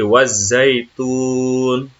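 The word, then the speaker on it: والزيتون: Wattini wazaitun. Ya. Nah, di sini ada huruf, ada tasdid, harus ditekankan ya. Wattin. Terus di sini juga ada tasdid lagi, wazaitun.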